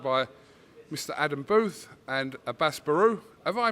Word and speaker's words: Abass Baraou: Adam Booth and ABASS BARAOU. Have I pronounced that correctly? Yes, ABASS BARAOU.